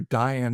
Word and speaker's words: Dion: My great greatgrandfather um uh Prudent Dion or Diane is how we pronounce it um was a lifesaver that saved people in Moskegan um right at the turn of the century.